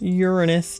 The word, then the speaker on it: Uranus: Uranus. Technically, that's how it's supposed to be pronounced, but I do think that Uranus is funnier.